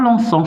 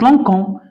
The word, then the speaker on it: lançons: Mais ça ne se prononce pas l'encens, ça se prononce l'encon. Alors, qu'est-ce qu'on doit ajouter? La C. Non. La cédille. La cédille. Voilà. Parce que C avec O se prononce co.